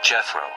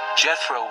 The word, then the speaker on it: Jethro: He was called Jethro.